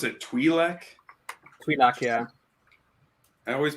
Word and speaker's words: Twi'lek: Oh wait, no, that was the Twi'lek's position. Pronounce it Twi'lek.